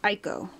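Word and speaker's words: Ico: who pronounces it as Eco there's two kind of people in this world there's people who pronounce it as e e and those who pronounce it as ieko I think Eco is how the Japanese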